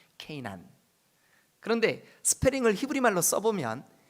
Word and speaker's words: 게난: 여러분, 우리 여기 그 5장 9절에 에노스는 90세에 게난을 낳았고, 이 게난, 케이난이라고 발음하거든요. 케이난.